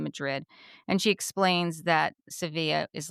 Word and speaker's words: Sevilla: But we have now learned that it is not pronounced Seville. If you were from Spain, which Alexia is from Spain, well, she spent many years in Spain. It's pronounced Sevilla. Sevilla.